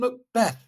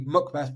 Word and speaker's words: McBeth: monster and N Nathan McBeth McBeth can say his name it's actually McBeth not MC Beth so I think we're